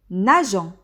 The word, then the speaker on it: nageons: Nageons. La terminaison est ONS. On a ajouté le E pour prononcer le G.